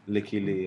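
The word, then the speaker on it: Lykke Li: Oh, is that how you say it? Licky Lee, yeah.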